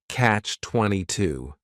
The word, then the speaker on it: catch-22: This is 2 words. It's a compound noun. The word catch is just 1 syllable, and then 22 is 3 syllables, and the stress is on that final syllable, catch-22.